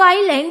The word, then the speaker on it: island: हम सही लिखेंगे और बोलते तो हम पहले से ही सही हैं क्योंकि हम बोलचाल में तो आइलैंड ही यूज़ करते थे। बोलते रहते हैं कि एस साइलेंट है।